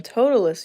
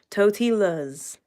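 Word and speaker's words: Totilas: show and their names are very like easily pronounced so his name is rebel I don't have him but everyone calls him totalus usually the black horse who is in that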